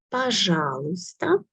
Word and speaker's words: Пожалуйста: Пожалуйста. Letter E here is silent. We do not pronounce it much.